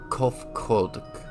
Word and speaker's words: Kofkodk: As for nomenclature to address my individual person, I believe it would be pronounced Kofkodk. Yes, Kofkodk of the Ia.